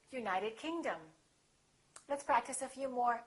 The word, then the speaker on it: United Kingdom: If the place has two words, we stress the second word. For example, South America, we say South America. United Kingdom, we say United Kingdom.